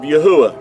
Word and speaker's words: Yahuah: And if you remove the D out of Yahudah, you have the pronunciation of Yahuah.